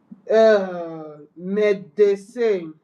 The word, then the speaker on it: médecin: There is that accent aigu there. Médecin. Me. The accent is A.